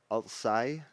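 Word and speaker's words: Altsaigh: After testing it in local ponds, the group took it up to Loch Ness, where Ian took the photos near the Altsai Yep, that's how you say it.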